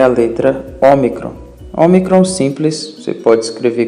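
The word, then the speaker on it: ο: A letra ômicron tem o som de O como em objetivo, ok? Tente lembrar da letra ômicron como um O com acento agudo.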